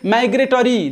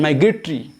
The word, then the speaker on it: migratory: three number c migratory the correct pronunciation some of you can say migratory that is not correct pronunciation my great tree my great tree so